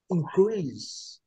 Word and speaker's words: increase: Qual que é a sílaba forte? É a última. Increase. Como se fosse cantar. Cantar a sílaba forte, não é? Então, o verbo em inglês, quando é verbo em inglês. Agora, em contrapartida, o substantivo, né, o noun, certo? É increase. Increase. Viu, Wanderlei, a diferença?